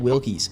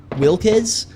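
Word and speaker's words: Wilkes: Annie Wilkies or Annne Wilks. I think that's how you pronounce her name. It could be Wilz, but I'm pretty sure it's Wilks.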